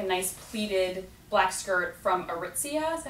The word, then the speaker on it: Aritzia: And I saw also like a nice pleated black skirt from Aritzia.